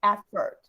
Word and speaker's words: effort: an effort to in everybody need to remember the pronunciation is effort at first okay it's not fought it's not f it's no fort is firt okay so everybody repeat by